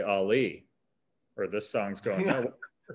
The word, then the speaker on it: Ali: Like, hey man, you gotta say Ali, or this song's going nowhere. Also still fix that somehow. Yeah, there's gotta be a way. Ali, don't you go downtown.